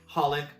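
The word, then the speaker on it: xxxHOLiC: be that placeholder so you just call it holic you don't pronounce the ex it's like Hunter Hunter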